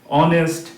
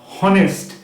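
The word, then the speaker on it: honest: তাদেরকে আমরা বলি সাইলেন্ট লেটারস। এই তিনটা ক্ষেত্রে তো দেখলেই অনেস্ট, আওয়া, অন এগুলো কিন্তু সব অ দিয়ে উচ্চারণ হচ্ছে হনেস্ট হাওয়ার হনার এরকম কিন্তু আমরা বলছি না তাইতো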